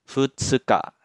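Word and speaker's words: 二日: Jadi cara bacanya tanggal 2 ya. Tanggal 2 dalam bahasa Jepang kan futsuka. Jadi dibacanya futsuka.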